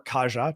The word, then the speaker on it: Kaja: in October um another appointment Estonian prime minister Kaya Callis will take over or Kaja depending how you pronounce it will take over as the next